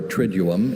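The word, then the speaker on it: triduum: Triuum or trium is from Latin and it means a term of three days.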